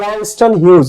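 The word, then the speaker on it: Langston Hughes: আচ্ছা, এই ড্রিমস এর আরেকটা কবিতা, এটা ল্যাংস্টন হিউজের, এটা উচ্চারণ হচ্ছে ল্যাংস্টন হিউজ, ইউনিট 6 এর লেসন 2।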